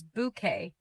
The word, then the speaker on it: bouquet: bouquet Pronounce it as bouquet. The letter T at the end is silent.